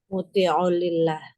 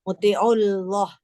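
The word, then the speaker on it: مطيع الله: Muti'ulillah. Bukan, ini hamzanya wasol loh. Asal. Muti'ullah.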